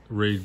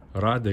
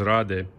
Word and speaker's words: Rade: mount all the stuff this is raid garage so sorry rade garage it's a cool name actually it's like rally raid raid garage but uh the pronunciation is rade czech czech republic um really